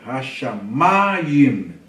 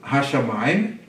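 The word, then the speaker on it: השמים: Olha a sílaba tônica. Hashamayim. Não é hashamayim.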